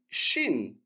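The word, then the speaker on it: شين: Ensuite, shin, comme le pays. D'accord? Shin. Ça se prononce de la même manière.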